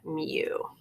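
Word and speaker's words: μ: that it's kind of funky U and we pronounce that mu and you'll see what it looks like as we're going through but that's how you pronounce it mu all right median does not have a symbol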